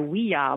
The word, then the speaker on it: Ouija: And another story says, well, it means yes in French and German, oui and ya, in which case it would be pronounced a oui-ya board, which doesn't seem to make much sense, but that was one of the stories, too.